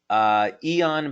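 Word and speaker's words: Aeon: Eon, by the way, is spelled A-E-O-N, and yes, that's a patch that you can find on our website.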